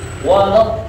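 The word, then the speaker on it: ولا الضالين: Nah, di situ ada to-nya panjang, lalu bertemu dengan lam bertasdid gitu ya. Jadi panjang dulu bacanya, udah panjang lalu ditekan gitu ya. Nah, jadi panjang dulu, udah panjang sekitar 4 sampai 5 harakat baru ditekan ke huruf lamnya. Kita lihat sekali lagi.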